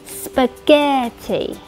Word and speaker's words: spaghetti: Đầu tiên, trọng âm rơi vào âm tiết thứ hai, nên âm tiết đầu tiên phát âm thành âm "uh", "spuh", hạ giọng xuống, " spuh". Âm thứ hai cao, ge, e ge, và cuối cùng hạ giọng xuống, ti, ti, spaghetti.